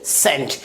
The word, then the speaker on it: scent: अगला example SCENT, क्या pronounce करेंगे सेंट।